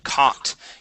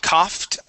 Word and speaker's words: caught: The only one I want to practice with you is the word caught. You had said coughed off. Okay, this is caught off guard.